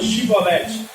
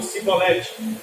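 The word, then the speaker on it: שיבולת: era o povo inimigo, eles não conseguiam pronunciar o SH, que era o hebraico. Então, ao invés de eles falarem Shibolete, eles não conseguiam, e eles falavam Sibolete.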